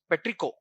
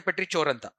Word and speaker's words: petrichor: Which pronunciation is French pronunciation is petrico. R silent. Uh don't don't say petrichoran.